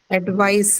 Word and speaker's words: advice: word advice, which has its stress on the second syllable.